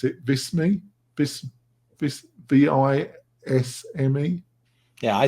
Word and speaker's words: Visme: And oh God, how do you pronounce it? Visme?